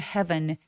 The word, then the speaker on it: heaven: 근데 heaven 같은 경우에는 장모음이 아니에요. e a라고 해서 무조건 길지 않습니다. 스펠링과 관계 없이 짧게 소리 내서 and flew back to heaven.